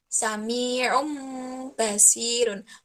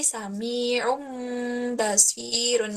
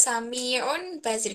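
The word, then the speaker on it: سميع بصير: ke menjatuhkan ke Meme jadi membacanya kira-kira Sami ROM basirun Mbaknya tetap Dibaca tapi membaca tanwinnya itu menjatuhkannya huruf bukan known tapi ke Meme jadi suami ROM basyirun jadi enggak Samiun Basir kalau samiya on basyirun itu kan tanwinnya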